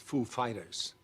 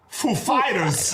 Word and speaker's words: Foo Fighters: And he comes up and he's like, he asked us if the accent was on Foo or Fighters. And we know who he is. Like, of course, we know how he speaks. And we said, the accent is on Fighters, actually.